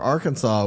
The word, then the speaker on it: Arkansas: because we're Arkansas, where you don't pronounce the SAS, you pronounce it SAW.